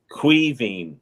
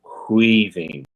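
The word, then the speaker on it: Caoimhín: So Quivine is how you pronounce this. Quivine.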